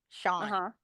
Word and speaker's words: Sean: head it's just weird say scen like like Lean l EA an that's how I thought you pronounced it forever was like scene until like somebody said I'm like oh it's actually Sean this is obviously when